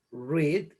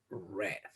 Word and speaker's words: read: diferente en su pronunciación en presente se dice read y en pasado se dice read entonces hay diferentes tipos